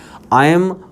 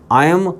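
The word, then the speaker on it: ऐं: जाप कर सकते हैं आई एम हरीम क्लीम चामुंडायै विच्चे यह नहीं होता ध्यान रखा जाए उच्चारण ही संस्कृत में मेन है आयम ह्रिम क्लिम चामुंडायै विच्चे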